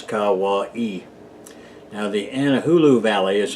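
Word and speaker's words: Kauaʻi: primarily anahulu and Hawaii that spelled ka ua i and pronounce Kawa e now the anahulu valley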